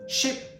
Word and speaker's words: ship: Ship has a short I sound, and cheap has a long E sound.